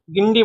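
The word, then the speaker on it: Guindy: इसकी स्पेलिंग है इंग्लिश में देखें तो जी यू आई एन डी वाई लेकिन हिंदी में इसे गिंडी बोलते हैं।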